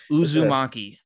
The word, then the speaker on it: uzumaki: listening i'm holding some book in my hand uzumaki that's how you say it yeah it means